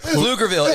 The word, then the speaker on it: Pflugerville: a p even better lugerville it's spelled p f l u g e r v i l l e the p is silent and everything yeah it's